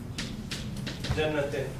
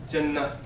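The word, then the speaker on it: جنة: Because we don't pronounce circular ta. We don't call it Jannat. We call it Jannah.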